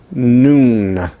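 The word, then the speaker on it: נון: for T, except that you open your nasal passage and you pronounce it as noon, noon, noon.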